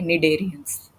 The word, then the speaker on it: Cnidarians: C is silent, okay, Cnidarians. So, what are the characteristics of this members of the group Coelenterata or Cnidarians?